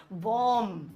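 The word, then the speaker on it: bomb: दिखाऊंगा अब यहां पे एम के बाद बी है और बी के बाद सैम वर्दी खत्म हो गया कुछ लिखा ही नहीं है तो ये भी साइलेंट होगा तो बम बोलना गलत है बम बम बॉय होय है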